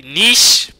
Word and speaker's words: niche: And I got a lot of criticism saying that we cannot pronounce the word niche, right? So it's niche, not niche, it's niche.